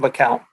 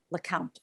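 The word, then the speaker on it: LeCounte: I'm having Richard LeCount. LeCount.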